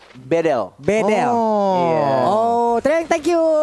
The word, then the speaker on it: Bedel: mahasiswa Turki, dia bilang, Bang Kornet bacanya bukan Bedel, Jadi? tapi E-nya dibaca semuanya E. Jadi Bedel.